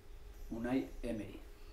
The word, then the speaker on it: Unai Emery: So for the benefit of Arsenal fans all over the world, what's the correct pronunciation of your name? Unai Emery.